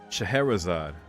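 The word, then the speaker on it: Scheherazade: this my whole life let's see here uh pronunciation shahirazad shahrazad wait i'm trying to hear it again google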